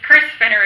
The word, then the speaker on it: Krys Fenner: It's Krys Fenner is how it's actually pronounced.